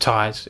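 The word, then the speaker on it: Thijs: I think it's pronounced Ties. It's THISJ or THISZ, something like that.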